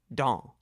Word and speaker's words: dans: vocabulary is the word dans, spelled D-A-N-S. Remember not to pronounce the last letter, S, or in this case, the next to the last letter, N, and speak the word through your nose.